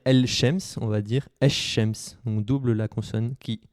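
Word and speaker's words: الشمس: Le de l'article el, représentant le, la ou les, ne se prononce pas si le mot qu'il définit commence par une lettre solaire.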